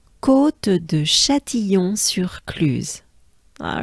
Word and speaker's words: Châtillon-sur-Cluse: So U is a very small opening of your mouth, and you drop your jaws down. So, I mean, dropping is down, but U, U, U, U, use, use, use, cluse, cluse, right? So it goes a bit like sur cluse, right? Sur cluse. Let's try it as a whole together, ensemble. Take a good breath.